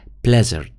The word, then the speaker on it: blizzard: blizzard. طبعا الآر يعني لا تنطق. تمام. blizzard. لكن أنت لما تهجيها blizzard، أوكي، الآر بتبين معك، لكن هي blizzard.